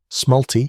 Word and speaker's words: smalti: Smalti, pronounced smalti, are small pieces of opaque glass enamel, specifically formulated for mosaics.